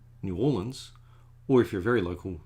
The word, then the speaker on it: New Orleans: So when I learned that New Orleans is actually pronounced New Orleans, or if you're very local, like Noel, I'm not going to say with the accent, but Norlands, I'm going to say it the way the locals say it.